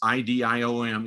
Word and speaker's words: EDM: but yeah um it's idiom it's the idiom model or it's actually that's how it's pronounced it's it's actually um the engagement decision matrix edm pronounced idiom um engagement yes the